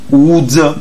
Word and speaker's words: would: will not shall not would not we don't say would we say woods we don't say no l is not pronounced don't pronounce l don't